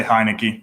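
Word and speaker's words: Heinicke: sticking with hiniki um what say his name for me i'd say heineke but heineke it is then that's what we're going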